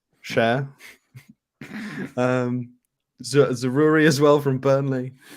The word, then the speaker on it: Chair: I refuse to call him Chair, which is how it's spelt. I'm assuming it's not Chair. I'm assuming it's Cher.